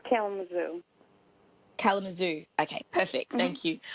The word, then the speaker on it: Kalamazoo: How do you pronounce it, Tammy? It's Kalamazoo.